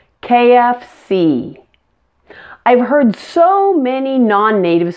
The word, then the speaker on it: KFC: how to say them correctly pronounce each letter completely with the most stress on the last letter like this CEO AT&T KFC I've heard so many